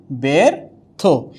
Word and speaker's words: ব্যর্থ: কিন্তু প্রশ্ন লিখিতে আদি বর্ণের পরে বর্ণ না, আদি বর্ণের সাথে যখন জফলা উচ্চারণ হবে তখন এটা কি হয়ে যাবে? একার হয়ে যাবে। কি হয়ে যাবে? একার। যেমন ব্যর্থ, উচ্চারণটা হয়ে যাবে কি ব্যর্থ।